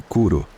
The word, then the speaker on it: Curu: ela me disse que seu nome era Curu pronuncia-se curo comecei a passar cada